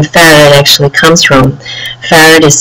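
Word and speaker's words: Pharad: In my professional role, I am Vice President of Engineering at a technology company called Farad, and my company, I'm also a co-founder of that company.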